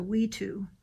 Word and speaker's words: wetu: Like that is called, it's pronounced a Wetu, the little Indian dwelling on the top left.